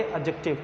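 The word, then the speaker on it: adjective: देखिए मैं आपको बताऊं ये जो ए और के के बीच में डी होता है कभी भी तो इसको साउंड नहीं किया जाता ये हमेशा साइलेंट होता है क्या होता है साइलेंट तो इसका मतलब क्या हुआ इसको हम प्रोनाउंस करेंगे एडजेक्टिव क्या काउंट करेंगे इसको बच्चे एडजेक्टिव साउंड करेंगे इसको ये क्या होता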